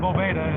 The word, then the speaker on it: Boveda: It's Boveda.